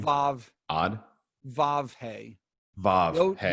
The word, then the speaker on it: Vav: Vav.